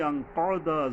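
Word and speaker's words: أنقض: এরপরে হল তিন নম্বর আয়াত আল্লাজি আনকদা জোহরক আল্লাজি আনক এইযে বড় কফ আবার এই দোত বড় কফের উচ্চারণ হলকের মানে গোড়া থেকে মোটা করে শক্তভাবে আদায় হবে আল্লাজি আনহক আল্লাজি মানে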